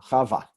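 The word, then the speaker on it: חַוָּה: I got rid of an extra dot here, a dagesh, to make sure that you didn't think that it was cha'ua or something. It's one of those times where, for grammatical reasons, I'm going to put a dagesh next to a vav and not want you to read it as u. I left it out. This is an expurgated version of the name, Chava.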